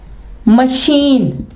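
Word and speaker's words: machine: इसकी एग्जांपल है मशीन।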